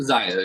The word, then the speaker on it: XXIO: And and like, is it Mizuno XXIO Zio? How do you pronounce? Is that like how you pronounce it? Zaya, yeah. Yeah.